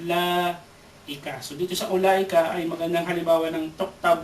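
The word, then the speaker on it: أولئك: Ulaika. Sa ulaika, meron dyan tuktab, wala tuntak. Yung wow. So, may wow dyan. Although nakikita natin yung wow, pero hindi mo babasahin ng u na mad.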